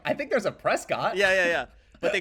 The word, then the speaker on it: Prescott: It's a town called Prescott, which is like it's already like country bumpkin type because it's spelled Prescott, but everyone says Prescott.